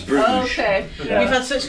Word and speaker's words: Bruges: It's totally wrong, It's but we totally love how you say No, it. we say Bruges. It's Bruges.